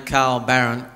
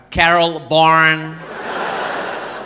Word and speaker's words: Carl Barron: She's pronounced my name, Carl Barron. Carol Barron. I never knew she was talking to me.